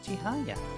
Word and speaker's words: 千早: If I just waited, it would have told us how to pronounce their name. Whoops. Oh well. Chihaya.